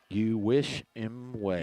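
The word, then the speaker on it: Uwishimwe: Awishimwe. he was pleading for a face mask call there, but it didn't work. For those of you that spell it, it's a capital U. U-W-I-S-H-I-M-W-E. You wish him way.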